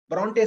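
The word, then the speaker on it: Brontë: நீங்க Bronte sisters நம்ம pronounce சொல்லல, Bronte.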